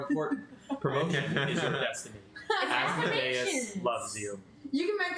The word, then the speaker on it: Asmodeus: It's And pronounced Asmodeus.